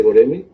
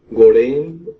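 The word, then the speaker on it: Göreme: Pues bueno, como ya comentaste, vamos a hablar del Valle de Goreme, o Gorén, o Guruen, también. Tiene unos, o sea, su pronunciación como es turco, Sí. de repente varía mucho, y bueno, tiene varias pronunciaciones ahí.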